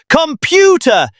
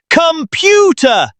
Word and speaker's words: computer: It's not computer. It's computer.